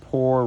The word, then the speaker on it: pour: And pour rhyming with door.